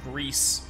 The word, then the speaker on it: Gris: and your grill uh because that's how it's pronounced in Spanish but it means gray and that fits with